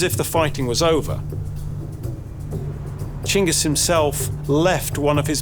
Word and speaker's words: Chinggis: new reign name of Chingis Khan. There's this strange thing where the name ended up as Genghaskhan. We think that the way the word got written in Persian, the pronunciation changed.